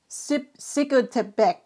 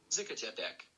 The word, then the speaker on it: Zacatepec: Sikotepec. What? Zacatepec. Sikotepec. Beck. There's no Beck. There's no B.